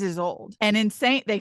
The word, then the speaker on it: Isolde: They call her Isolde. Mm-hmm. That name is Isolde.